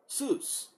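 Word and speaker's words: סוס: whatsoever okay it says phonetic phonetic spelling is soos okay now when we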